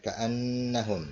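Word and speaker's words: كَأَنَّهُمْ: Ka'annahum ya, gunnah, ka'annahum nun bertasydid ya. Ini gunnah ya, ka'annahum begitu bacanya dengung ya.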